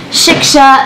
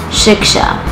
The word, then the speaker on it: Shiksha: If you look at the way that it's spelled, it's pronounced exactly the way it's spelled, but for whatever reason, people have a really hard time saying my name.